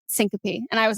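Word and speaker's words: syncope: had like a vasovagal I said ccope and I said is that right and he goes no Syncopy and I was like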